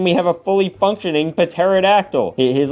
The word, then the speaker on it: pterodactyl: I know it's pronounced pterodactyl. The P is silent.